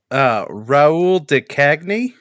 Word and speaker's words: Raoul de Chagny: Do you know how to pronounce his name? Jensie. Let me try. It's Raoul de Chagny.